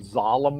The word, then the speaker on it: Zalem: thought of that myself you know what they're calling it sollum like that but the thing of